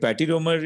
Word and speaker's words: patiromer: Can you please spell it out for us? Yeah, PATIROMER, patiromer.